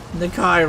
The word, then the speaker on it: Nakai: die nikai rhymes with dye piece of [ __